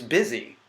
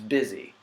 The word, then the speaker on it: busy: it bus II know it's busy which rhymes with dizzy which has an entirely different spelling it should be bussy but it's not it's busy it makes no sense